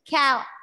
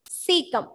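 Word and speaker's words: caecum: So some of them have a tendency to pronounce it ka and all, but it is not ka, it is cecum.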